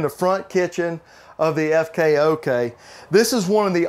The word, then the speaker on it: FKOK: My cameraman said SKOK. I said, no, FK, front kitchen, and that's what we're in. We're in the front kitchen of the FKOK.